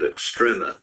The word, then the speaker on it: extrema: we're going to begin our discussion of relative extrema the way that's pronounced and uh it's called extrema because we're